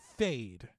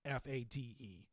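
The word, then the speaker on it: Feyd: the barons younger nephew um his name is fade in the movie like i know it's spelled f-e-y-d but it's pronounced at like f-a-d-e yes fade and sting is basically utilized to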